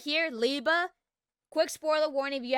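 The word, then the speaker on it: Liebe: Yeah, some folks pronounce it as Libe. I hear Liba. Or yeah, Liba.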